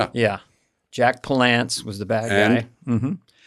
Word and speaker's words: Palance: Jack Palance, by the way, is the way he pronounces it.